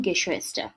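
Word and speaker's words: Geschwister: জি হাম গেশোয়েস্টার, উচ্চারণটা কি গে শুয়েস্টার, গে শুয়েস্টার, উচ্চারণটা খেয়াল করবেন।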